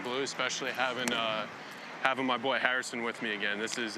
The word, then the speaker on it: Harrison: I love the way you pronounce my name. That's how you do it. It's Harrison.